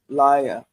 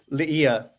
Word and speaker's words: Laya: One of my favorite characters in the book is Laya. Is that right? Did I pronounce her name right? Leah. Leah. Leah.